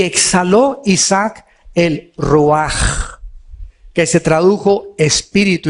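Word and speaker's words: רוח: Y exhaló Isaac el ruaj, que se tradujo espíritu y se escribe ruach con ch. La palabra hebrea para espíritu es ruach y la ch se pronuncia como j.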